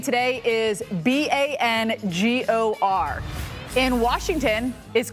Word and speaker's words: Bangor: all the time is Bangor Maine it rhymes with store Bangor and mainers get really